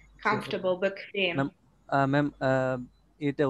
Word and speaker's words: bequem: bequem, bequemer, Comfortable. comfortable, জি, comfortable, bequem। Ma'am, এটা উচ্চারণটা কি ঠিক আছে? বেকুয়েম। আমি আবারও প্রনাউন্স করি, bequem। এটা কিছুটা ডাব্লিউ এর মতো প্রনাউন্স হয়, bequem।